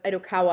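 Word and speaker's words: Itokawa: called 25143 IDOA ID Idokawa I think is actually how it's pronounced um uh but is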